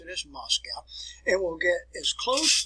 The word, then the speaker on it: Moscow: the way up to where moscow is you pronounce it as moscow and we'll get as close to moscow as